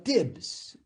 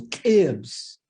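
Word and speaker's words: tibs: El plato favorito mío acá se llama Tibbs y hay que pronunciarlo con un poco de explosivo. Tibbs.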